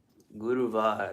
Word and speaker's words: Guruvar: Guruvar. That's how you say it. Hindi.